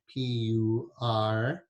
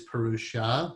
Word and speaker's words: Purush: The first word is Purush, P-U-R-U-S-H. Sometimes you hear it as Purusha, but a more accurate pronunciation, if you're saying just the word by itself, Purush.